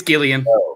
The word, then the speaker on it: Gillian: had info on that i i call her jillian jacobs because i don't know any better okay i mean and it could be that could be a gag that they're doing on comedy bang bang you know who knows did you did you re did you uh watch love it's it's gillian but it's on my list it is gillian okay love is a